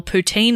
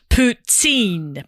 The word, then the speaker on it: poutine: to give some Montreal poutine recs. The proper Quebec, how do you say that? Quebec. A Quebecois. I reckon you nailed that. Pronunciation is poutine. Poutine. Stress last syllable.